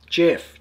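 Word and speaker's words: Geff: a discussion on Facebook my name Jeff G EF it's as far as I'm aware the English spelling and the Americanized version is J EF both pronounced exactly the same way which I think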